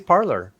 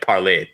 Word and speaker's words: Parler: Clearly, it's French, right? Like parler, to speak.